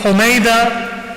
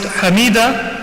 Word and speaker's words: Humayda: His mother was a very noble lady, Humayda, and sometimes people pronounce it Hamida. Either one is acceptable.